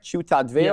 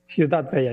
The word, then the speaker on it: Ciutat Vella: Am I pronouncing that right? Ciutat Vella or? Ciutat Vella, yeah.